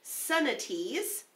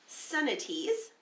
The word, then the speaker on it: cenotes: quite the same thing these sinkholes were called son of T's which is kind of an interesting way to pronounce something that if you're looking at it you might think it's oh sorry got that backwards it looks like cenotes but its son at ease as the Mayan civilization